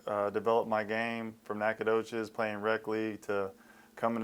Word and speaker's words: Nacogdoches: You come full circle, the ambassador of Nacogdoches, and that's the way you pronounce it, right? Yeah, you did it right.